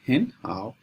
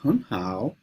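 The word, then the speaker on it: 很好: You see, the first third tone should be pronounced like the second tone. So, instead of calling it how, we call it henhow.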